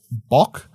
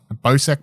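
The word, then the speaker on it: Bocek: I think it's bok. I don't know. No, it's B O C E K. Bow. Bowk bow. Bo bow. It's a bow.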